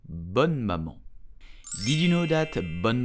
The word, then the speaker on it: Bonne Maman: So how do you pronounce this brand correctly? You will say bonne maman, bonne maman, bonne maman.